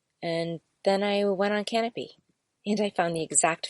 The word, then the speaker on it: Kanopy: And Canopy is spelled Kanopy.